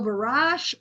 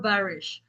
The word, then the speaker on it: barrage: So, it has two different pronunciations. So, barrage or barish. Uh, I would do barrage.